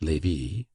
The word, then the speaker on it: Lévis: There were in Madame de T.'s salon some very noble ladies named Mathin, Noé, Lévis, Levis, which was pronounced Lévis, Cambise, Cambis, pronounced Cambise.